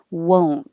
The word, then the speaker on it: won't: sometimes you don't won't now you make whoa this is the one I described as a fish face because you have to make lips small for the first W and then the O comes back and then you round them again whoa whoa won't we